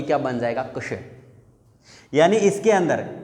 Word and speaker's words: कक्ष: कक्ष। यानी इसके अंदर क आधा है और श, और इसका उच्चारण क और श, कक्ष ऐसे होना चाहिए।